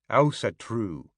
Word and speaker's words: Ásatrú: The Scandinavians all pronounce the word differently, but in English, the Icelandic way of saying it would phonetically sound like Ásatrú.